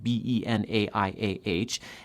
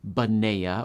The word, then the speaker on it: Benaiah: Definitely draw a believable connection between the letters on the Bible page, B-E-N-A-I-A-H, and the sounds you utter, Baneah or Benaiah, but leave it there.